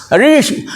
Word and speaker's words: ऋषि: हो हिलती खूब है, इसमें जीभ तलवे में जाकर चिपक जाएगी और उच्चारण कर दीजिए, बिल्कुल शुद्ध होगा। बोल के देख लीजिए, तलवे में चिपकाइए, दांतों से आपके मसूड़े से लेके पीछे तक चिपकी होगी और तब बोलेंगे ऋषि ऋषि, री हिल रही है, री आपने ताकत लगा के तो चिपका दिया ऊपर। अब कहां से वो हिलेगी? हिल ही नहीं सकती। अब आपका ये शुद्ध उच्चारण है।